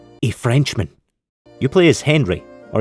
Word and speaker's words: Henri: You play as Henry, or he's French, so I guess it's pronounced Henri, a French soldier in